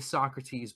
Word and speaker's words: Socrates: a different name they call them Socrates okay so great that's actually the correct pronunciation we've got it wrong for this whole time it's so crates exactly and that's what